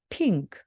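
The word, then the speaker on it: pink: 소리가 나고요 NK 그요 어떻게 된다 그랬죠 은크 발음입니다 자 이때 이응은 바로 자음이 때문에 모음을 만나야 합니다 그래서 바로 앞으로 가서 핑크 핑크가 됩니다 자 여러분 근데 이제 핑크 하고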